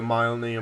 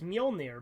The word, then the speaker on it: Mjolnir: are equipped with the myelinated mach 5 armor interesting way to pronounce that it's mjolnir but i you know again